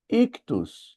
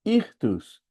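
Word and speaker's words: ΙΧΘΥΣ: Ali está escrito ictus ou irtus, que são também as iniciais da frase Jesus Cristo, filho de Deus, salvador. Irtos e era um símbolo muito importante pros cristãos.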